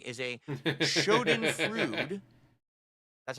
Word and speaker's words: schadenfreude: I realize now that wasting so much time following someone you don't like is a schadenfreude. That's how you pronounce it.